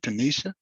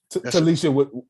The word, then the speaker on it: Talisha: Yes, so I would like to say, because I'm listening to how you say it, Tanisha? Talisha with an L.